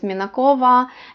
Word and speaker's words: Minakov: But if it's the male form, Minakova, the V is turning into F and pronounced a little bit slight. Sometimes you cannot hear it. Stepanov, Minakov, it's a short F.